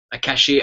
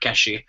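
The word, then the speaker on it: cache: and stumbles upon a a cashier of wildfire. Somebody corrected me that. Somebody corrected my uh pronunciation of that one of my own videos actually, but it's a French word. Keshi of wildfire prime to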